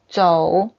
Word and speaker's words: 走: If you say that 得 have to 得走 Z-O-U. The pronunciation is 走 Okay.